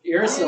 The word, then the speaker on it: uracil: Uracil.